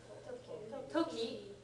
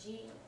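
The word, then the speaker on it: 時: And a key clue that it's meant to be pronounced toki and not ji is that it's got hiragana front and back of it.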